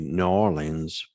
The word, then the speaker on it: New Orleans: and i always will the pronunciation of it is actually new orleans for for those that are are from that area i love that area